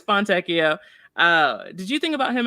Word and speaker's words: Fontecchio: I realize I say his name wrong. Fontecchio, right? Yeah, it's Fontecchio, and in my head, I've been saying Fontecchio for so long. I just can't not say it that way.